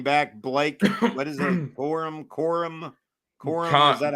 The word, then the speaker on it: Corum: Corum? Is that how you Cummings or No, it's Corum. Corum. Oh, that's how it's spelled?